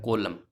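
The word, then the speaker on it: column: इसी प्रकार से ये देख लीजिए, एन साइलेंट रहेगा, ये क्या हो जाएगा, कोलम, कोलम।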